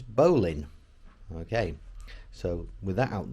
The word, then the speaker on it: bowline: name's confusing is it a battle line like on the bow of a ship or is it a bow line like a bow and arrow well i'm led to believe that the correct pronunciation is bowling okay so with that